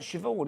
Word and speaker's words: Siobhan: It's like Siobhan, isn't it? Because it's spelled Sayaban. Sayaban.